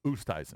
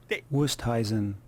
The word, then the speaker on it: Oosthuizen: Everyone in the media pronounces it Oosthuizen. Wusteisen. Or And they asked Oosthuizen. him when he first burst onto the scene, do you have the audio? Wusthuizen.